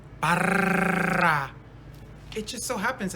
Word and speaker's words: Barra: Can you roll your R's? R's? Barra.